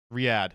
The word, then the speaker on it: Riyadh: Riyadh.